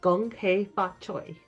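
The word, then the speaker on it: Gong Hei Fat Choi: It would be Gong Hei Fa Choi.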